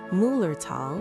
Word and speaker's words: Müllerthal: Deep within the magical Müllerthal, which is pronounced Müllerthal, region, you will find the Schiessentümpel waterfall.